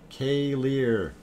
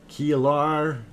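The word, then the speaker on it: Keilir: Hi, Kilar is pronounced K-Lear. Oh, K-Lear. I heard them pronounce it Kilar.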